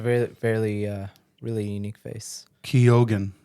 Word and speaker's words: Keoghan: Keoghan, that's how it's pronounced.